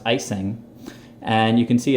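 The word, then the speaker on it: Ejsing: Check out his name down there, Jesper, I believe it's pronounced Icing.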